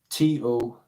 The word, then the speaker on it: Tous: On Tous, it's spelled Tous, my friend. Tous.